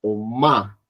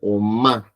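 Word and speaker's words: 엄마: Y después bajo el sonido del fragma y subir a la nariz, por ejemplo, o ma. O ma. Mira el sonido nasal. O má, como si tuviéramos un resorte, que jalan el resorte y lo tiran o para que hagan el sonido, el sonido nasalizado.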